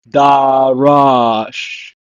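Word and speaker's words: דָּרַשׁ: It's pronounced as darash.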